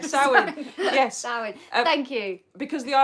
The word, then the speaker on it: Samhain: I think it's Samhain.